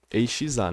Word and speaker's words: exa: Você pode usar, aqui pro Debian no caso, pode usar apt install ESA, ou sudo apt install ESA. EXA, né? Eu tô falando ESA, mas é porque o X se pronuncia Z.